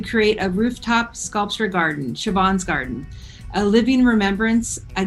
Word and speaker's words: Siobhan: I'd like to now introduce Una. You get that right? It's Siobhan, you idiots. How could you ever pronounce it any way else than that?